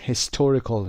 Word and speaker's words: historical: historical استرس رو دقت داشته باشید، حتما در قسمت ت استرسش رو بذارید.